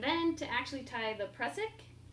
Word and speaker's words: Prusik: The next one is the Prusik or Prusik. How Great. do you pronounce that knot?